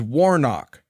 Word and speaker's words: Warnock: By the way, the man's name is Warnock. You're going to hear a mispronunciation and a purposeful mispronunciation of that name.